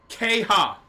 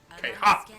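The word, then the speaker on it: Qeyha': forgetting that door exists Jackie kha I'm sorry pronounce that one more time for me kha q e y h a apostrophe kha kha I love that and I'm going to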